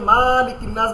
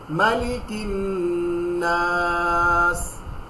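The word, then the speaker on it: مَلِكِ النَّاسِ: অনেকে মালিকিন নাস বলে, অনেকে মালিকিন নাস বলে, এটা দুটাই ভুল। হরকতের উচ্চারণ তাড়াতাড়ি করিতে হয়। এক জবর এক জের এক পেশকে হরকত বলে, হরকতের উচ্চারণ তাড়াতাড়ি করিতে হয়, আপনাদেরকে শিখিয়েছি। সো মালিকিন নাস, খুব সুইফটলি, মালিকিন নাস ইলাহিন।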